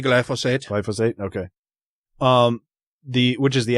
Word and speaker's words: glyphosate: And just for measure, the amount of toxicity of glyphosate, how do you say it? Which way do you say it? I say glyphosate.